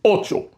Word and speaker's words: ocho: Number eight is ocho.